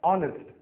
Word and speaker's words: honest: इन दोनों शब्दों में H जो अक्षर है ये साइलेंट है, हम इसका उच्चारण नहीं करेंगे, तो इसलिए ये शब्द शुरू होते हैं वावल O की आवाज से, ऑनर, ऑनेस्ट, और इसलिए